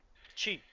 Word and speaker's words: chi: Well, there are two pronunciations actually. Yeah. Chi.